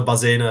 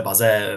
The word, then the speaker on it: Bazin: to určitě vyslovuju špatně, píše se to Bazin, myslím, že ve francouzštině se to vyslovuje Baze, nějak tak, ale trošku si to